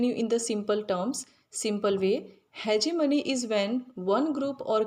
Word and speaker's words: hegemony: In two ways this word is pronounced. The first in American hegemony, and in the second in British English.